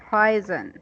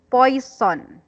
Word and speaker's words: poison: word again yes correct poison but the way you said it a while ago was boys son it's not poisonous poison so it seems to